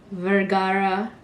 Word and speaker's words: Vergara: is and my last name is vergara and it's like literally the spanish way of how you say it or pronounce it i